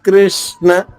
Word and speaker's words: కృష్ణ: మీరు చెప్పింది ఏంటి క కింద రా రకారం రాసి ఉకారం రాస్తే కృ అవుతుంది. క కి ఇకారం ఇచ్చి కింద రకారం రాస్తే క్రి అవుతుంది. అవి రెండు కాదు. కా కి ఎటువంటి ఒత్తు లేకుండా కేవలం వృత్వం మాత్రం ఉంది అరుకారం మాత్రమే ఉంది కాబట్టి కృ నకాంక్షే విజయం